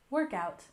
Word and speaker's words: workout: first one is workout with stress on the first syllable workout workout and this is